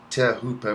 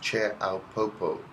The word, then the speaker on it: Teahupo'o: a local legend and if you think you're saying it right you've got it all wrong tear hooper pronounced chair alpopo or choppers in hip aussie circles is one of the